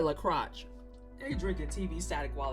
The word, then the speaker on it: LaCroix: Oh, you logged out over the La Croche. I mean, that is the correct pronunciation of LaCroix.